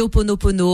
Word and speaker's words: Ho'oponopono: Alors, c'est Ho'oponopono. Comment vous prononcez-vous? Oui, on dit Ho'oponopono.